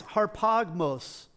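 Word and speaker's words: harpagmos: that comes up here it's harp hog maws harp OGG MOS harp ah gross and if any of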